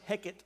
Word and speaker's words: Heket: And they actually, the Egyptians had a goddess, is goddess Heket, is how you say that.